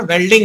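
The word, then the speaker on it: welding: वेल्ड का मतलब वही है जो लेबर आदमी नहीं कहता बेल्डिंग करा लो, बेल्डिंग, लोहे की बेल्डिंग, वो बेल्डिंग नहीं होता, उसका सही उच्चारण वेल्डिंग होता है।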